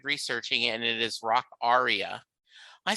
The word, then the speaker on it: Rockaria: Rockaria, and he said, "Do you know it's pronounced rock aria?" And I said, "Get the F out of here." He said, "Yes." He said, "All my life I've called it Rockaria as well."